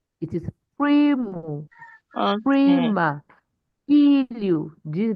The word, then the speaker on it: primo: So, if the word has two syllables, it means the first syllable will be stressed.